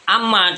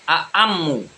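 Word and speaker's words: أعمّ: Jadi berarti bukan amma tetapi a'ammu.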